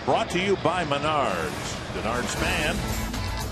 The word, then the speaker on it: Denard Span: Denard Span, which rhymes with Menards.